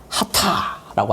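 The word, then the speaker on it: חטא: 그래서 이걸 읽어보면은 이게 H 발음이고 이게 T 발음이라서 하타라고 합니다. 하타.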